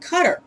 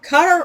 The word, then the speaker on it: Qatar: Middle Eastern country called Qatar. Actually, he asked a native there, is it Qatar or Qatar? It's spelled Qatar, but either pronunciation is correct because they're really flexible on their vowels.